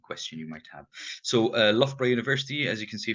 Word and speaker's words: Loughborough: So Loughborough University, as you can see from how I pronounce it, we have over 17,000 students.